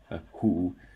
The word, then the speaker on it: 胡: 这些有胡字旁的字都念hu, hu. So Hu is also a very common family name in China.